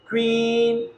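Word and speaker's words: queen: जब किसी वर्ड में क्यू हो तो इसके बाद हमेशा हमेशा यू, हमेशा यू आता है और क्यू यू का उच्चारण क्व क्व होता है।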